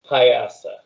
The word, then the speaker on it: Piasa: One of them's known as the giant bird Piasa, if I'm saying it right. Yes. Yes. Would you repeat that one more time? Giant Myasa? bird Piasa.